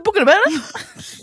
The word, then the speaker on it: bougainvillea: The bougainvillea?